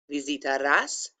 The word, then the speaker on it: visitarás: Again, I pronounced each letter and I put a little emphasis on the as there. Again, it's pronounced tú visitarás el museo.